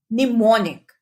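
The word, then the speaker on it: mnemonic: pronounce नहीं किया जाता निमोनिक इस वर्ड में एम साइलेंट होता है लेटर एन लेटर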